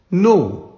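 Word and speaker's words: know: एन ओ डब् एन नोन here के silent next verb है सी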